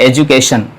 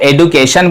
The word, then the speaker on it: education: तो इसका उच्चारण होता है एजुकेशन, एजुकेशन। हाँ, इसे अगर आप एडुकेशन भी बोलते हैं तो चलेगा, लेकिन सही उच्चारण है एजुकेशन।